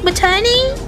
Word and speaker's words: matinee: It's like maternity leave, like matani.